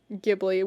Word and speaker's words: Ghibli: Hell yeah, those are good choices, and I have found it seems like the correct pronunciation is Ghibli with a hard G.